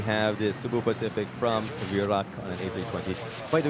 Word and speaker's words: Virac: Virac pronounced Iraq. Virac. Yeah, that is how you pronounce Virac, diba?